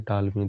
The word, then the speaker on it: Ptolemy: इनके दरबार में फिलाडेल्फस थे टालमी द्वितीय, जो कि इजिप्ट के थे। टालमी की स्पेलिंग है PTOLEMY।